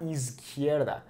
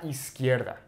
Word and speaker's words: izquierda: Notice how the Z is not is, okay, like a normal Z sound like we have in English. It's an S sound in English. A la is, okay, a la izquierda, okay, not izquierda, is, a la izquierda.